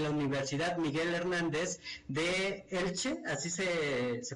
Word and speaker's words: Elche: está estudiando en la Universidad Miguel Hernández de Elche, así se pronuncia, ¿sí?